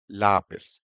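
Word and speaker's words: lápiz: भी ला और पिस according to rule यहां होना चाहिए पर नहीं है यहां पर आता है यह वर्ड बोला जाता है करेक्ट प्रोनाउंसिएशन है लापिस यहां बोला जाता है तो यहां पर आपको एक एक्शन मार्क देना पड़ेगा लापिस तो दोस्तों आई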